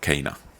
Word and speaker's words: Kana: Actually, Kana is kind of a funny name. In Finnish, we of course pronounce it Kana, and that means chicken.